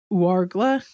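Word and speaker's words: Ouargla: Hart and his group went to Warla.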